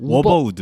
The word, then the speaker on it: 위버우드: 자세한 할인 그 행사는 더보기에 적혀 있으니 참고를 해주시고 근데 이거 이름이 뭐 워버우드. 워버우드. 네, 발음을 그렇게 하더라고요.